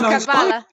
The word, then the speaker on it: Kabbalah: Okay, so first off, I mispronounced it as you. No, it's Kabbalah.